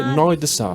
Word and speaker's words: Noir Désir: Delante te recomendé Olden y en la otra banda que es punk rock francés se escribe Noir Désir, pero en francés se dice Noir de Sa.